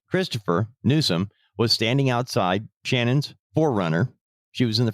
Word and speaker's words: Channon: Christopher Nuome and his girlfriend Shannon Christian, her name is spelled C H A N O N. Shannon Christian.